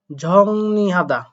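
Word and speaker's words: 정리하다: ঝাড়া বা পরিষ্কার করা ঝংনি হাদা দেখেন এখানে আপনারা উচ্চারণ করবেন ঝং ঋ বাট এখানে ইয়ং বাচ্চিমের কাজের কারণে ঋণটা হয়ে যাবে নিউন তাই হবে ঝংনি হাদা এরপরে একটু খেয়াল করে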